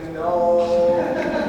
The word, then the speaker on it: gnome: Dunstan, the G is silent. It's silent? A silent G?